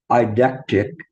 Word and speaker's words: eidetic: And there was let me see if I have there was a term is it's spelled EIDETIC, which is I guess eidectic.